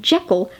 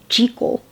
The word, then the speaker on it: Jekyll: jel and Mr Hyde and yes the original pronunciation is not jeal but jle agitations with sound mispronounced it and now at